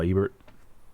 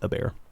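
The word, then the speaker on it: Hebert: That's how Zando told me I'm supposed to pronounce it. I always said Kyle Ebert, but apparently it's Ebert.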